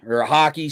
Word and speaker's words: Hockey: from our buddy Hudson Hockey. Sorry, Hudson. I always want to say Hacky because it's what it looks like it's pronounced as, but you told me it's like hockey.